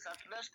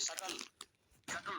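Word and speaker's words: subtlest: ಅದು ಬಹಳ ಸೂಕ್ಷ್ಮದ ಸಕ್ಲೆಸ್ಟ್ ಇಲ್ಲಿ ಬಿ ಉಚ್ಚಾರ ಆಗೋದಿಲ್ಲ ಗುರುಗಳೇ ಅದು ಬಿ ಏನದಲ್ಲ ಎಚ್ ಯು ಬಿ ಟಿ ಎಲ್ ಇ ಎಸ್ ಟಿ ಐತಲ್ಲ ಸರ್ಲೆಸ್ಟ್ ಅನ್ಬೇಕು ಬಿ ಉಚ್ಚಾರ ಆಗೋದಿಲ್ಲ ಬಿ ಸೈಲೆಂಟ್ ಸಕ್ಲೆಸ್ಟ್ ಅಲ್ಲ ಸಕ್ಲೆಸ್ಟ್ ಇಟ್ ಇಸ್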